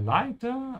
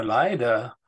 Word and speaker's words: Leiter: Be careful with the pronunciation of T and D. They're quite close in terms of mouth position, yeah? Because leider means unfortunately, yeah? It's very important to say leiter, leiter.